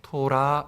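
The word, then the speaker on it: תורה: 단어입니다 근데이 율법이라는 단어는 히브리어로 여러분 많이 들어보셨던 단어입니다 토라 이렇게 부릅니다 발음합니다 근데이 토라고 발음하는이 율법의 뜻은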